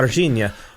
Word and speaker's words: Varginha: We got to remember to put the "ya" at the end. Virginia.